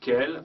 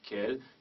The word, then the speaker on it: quel: pluriel il faut utiliser quel Q u e l l e s donc à chaque fois la prononciation est la même quel masculin singulier quel féminin singulier quel masculin pluriel et quel féminin pluriel la première quel âge